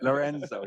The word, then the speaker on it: Lorenzo: conference probably too much fun but have to pronounce that I think myorzo Lorenzo yeah thank you um so my background um